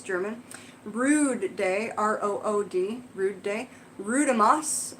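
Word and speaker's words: Rood: Also known as Walpurgisnacht, sounds German, Rude Day, R-O-O-D, Rude Day, Rudemas, R-U-D-E-M-A-S, and May Day.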